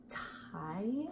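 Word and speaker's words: Tygh: So then, my second one is the tie, I believe is how it's pronounced. It's T-Y-G-H.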